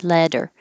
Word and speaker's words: leather: in 42 and 43 leather leather the th is voiced so you need to have airflow plus voicing leather and red leather yellow